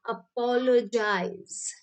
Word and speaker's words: apologize: अपोलोजाइज, है ना? इट इज not guys, it इज जाइज।